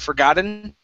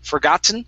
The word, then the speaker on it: forgotten: flap t so this word uh cannot be pronounced forgot forgotten okay we have to pronounce it with a normal t or a swallowed t so they sound like this normal t is forgotten or the swallow t is forgot um forgotten